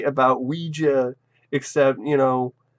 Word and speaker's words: Ouija: movie and you know instead of Ouiji you know Ouija oh it's Ouija oh I'm saying it wrong Ouija I don't [